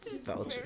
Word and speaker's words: falchion: Falchion. Great word, isn't it? It's pronounced falchion.